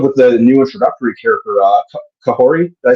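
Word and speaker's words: Kahhori: And the episode with the new introductory character, Kahori, did I say it right? Kahori.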